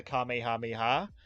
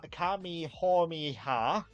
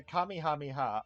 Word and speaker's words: Kamehameha: completely wrong um like they were going Kami homie ha or like uh like it's either Kamehameha or Kamehameha if you're coming here that's what I am that kamehameh has the actual pronunciation but if you speak with a draw it's Kamehameha if you have like